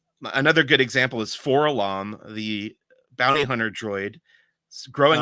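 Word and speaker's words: 4-LOM: assume my own pronunciation another good example is foram the Bounty Hunter Droid growing up I always said forom and apparently it's pronounced for L this is a completely yeah uh caught me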